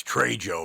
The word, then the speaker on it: Trejo: Mr machete himself Danny tro what was he like it's Trey Joe man you're you're pronouncing it wrong there will be no